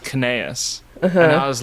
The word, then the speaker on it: Cnaeus: There's this like name in Latin that is spelled like C N A E U S. Something like that. And it's pronounced Cnaeus.